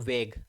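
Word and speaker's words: vague: गया था सर वेगू जिसका राइट प्रोनाउंस होता है बच्चों वेग एडजेक्टिव है ये भी और इसका राइट प्रंस होता है वेग बोलो वेग बोलो वेग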